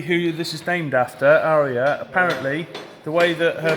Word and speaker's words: Aria: Well, so we're told that because of the way they say Aria, it sounds like Harrier.